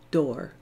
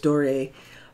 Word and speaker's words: D'Or: This color that I used first, the transparent one, is called Rose D'Or, D apostrophe O-R, or Rose Doré, whichever way you want to pronounce that.